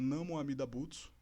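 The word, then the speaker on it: Namu Amida Butsu: nome do da vida o Buda amida se pronuncia como não amida butsu em japonês Não fala assim mistura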